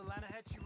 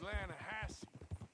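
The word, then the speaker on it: Lannahechee: The Lanahatchee. It runs right near here. Yeah, but it's pronounced Lanahassee. Why is everything in English said differently than it's written?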